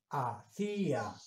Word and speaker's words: hacía: los ciertos sino como como yo sé que esta palabra se debe pronunciar a cilia pues la única forma de hacerlo es poniéndole una tilde de ahí viene que